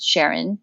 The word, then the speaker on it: Charon: feature film last year called Sharon but it's spelled c h a r o n that I'm told is